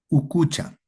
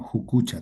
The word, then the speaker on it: ucucha: Ucucha. Ucucha. En algunas zonas se pronuncia como jucucha también. Pero en la variante chanca, ucucha, ucucha.